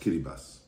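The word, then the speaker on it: Kiribati: in Vanuatu Fiji and in kirati pronounced kiribas and I learned a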